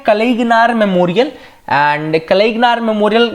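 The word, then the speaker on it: கலைஞர்: अगली जो न्यूज है वो है रिगार्डिंग द कलयंगर मेमोरियल, कलईगनार पढ़ो उसको, मैं तो अब तमिल प्रोनाउंसिएशन है जो भी तमिलनाडु का हो क्लियरली बता सकता है।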